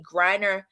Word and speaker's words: Griner: Griner.